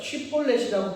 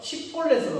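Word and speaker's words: שיבולת: 쉬볼렛이라고 발음하면 이게 히브리어고 이 에브라임 지파의 발음으로 이게 안 돼서 십볼렛으로 발음하는 거예요.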